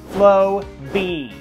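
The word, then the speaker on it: Flowbee: Two syllables. Flo-bee.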